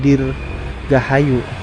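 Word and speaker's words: Dirgahaju: Jadi J itu masih ejaan lama ya. J itu ejaannya Y. Jadi tulisan dibacanya tuh Dir Gahayu.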